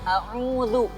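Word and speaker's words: أعوذ: A'udzu billah. Da juga harus hati-hati, bukan a'udzu, tapi a'udzu. Cara membaca da itu adalah cukup dengan lidah randi itu ditempelkan dengan gigi yang di depan. Da. Da. Nah, a'udzu.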